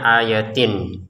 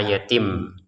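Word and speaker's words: آيَاتٍ: Maksudnya begini, tanwinnya ini awalnya ayatin. Nah, tapi karena di depan ada ba, maka dibacanya ayatim dengan samar ayat bayyinah. Jadi, jangan dibaca ayatin tapi dibaca ayatim.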